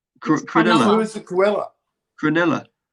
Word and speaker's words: Cronulla: He said Cruella. Cronulla.